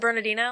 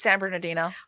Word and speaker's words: San Bernardino: born in san bernardino is it bernadino it's san bernardino yeah why does it why is it spelled that way well it's it is spelled the way it sounds either barnardino bernadino san bernardino bernardino is how it's spelled yeah but you say san bernardino if you're from california okay she was born in